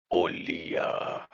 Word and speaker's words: Olija: The game that I picked is now that I know how it's pronounced, Olija.